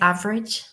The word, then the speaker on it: average: In American English, they pronounce the schwa sound, but you drop it in British.